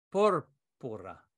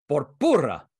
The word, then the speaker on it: púrpura: Púrpura. Púrpura. No, I cannot say. Marina, how do you pronounce púrpura? Púrpura. Púrpura, Mikael. Púrpura. Púrpura. Púrpura. Porpurra.